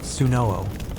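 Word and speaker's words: swnw: You imagine yourself in the vicinity of a SW&W, pronounced Sunoo, an ancient Egyptian physician.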